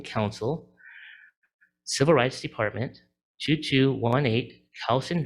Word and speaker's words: Kausen: Civil Rights Department, 2218 Cowson Drive, that's spelled Kausen Drive, number 100, Elk Grove, California, 95758.